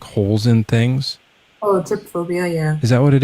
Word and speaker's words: trypophobia: Tryptophobia. You know, people don't like when there's like holes in things. Oh, trypophobia.